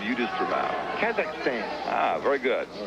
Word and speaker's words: Kazakhstan: Soviet from the Southern Republic of Kazakhstan. You know where that is. I know where the Soviet Republic is. I just won't take on the pronunciation you just threw out. Kazakhstan.